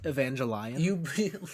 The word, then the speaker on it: Evangelion: Evangelion. That's the proper pronunciation of that show.